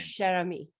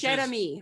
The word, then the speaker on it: Cheramie: Cheramie. Cheramie, which is Cheramie, honey. French Cajun, which actually means dear friend.